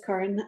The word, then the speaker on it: Caron: I am Karen um I know it looks like Karen but it's Karen uh and I am a mom of three uh 42 fastly approaching 43.